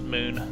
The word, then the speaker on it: Mun: let's call this uh mon flight i keep saying moon i guess you could pronounce it moon uh but it's m-u-n uh oh wait i've